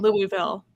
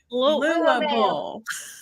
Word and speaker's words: Louisville: We have to teach people how to say Louisville. Wait, how do you say Louisville? Louisville. If you say Louisville, we know you're not from here.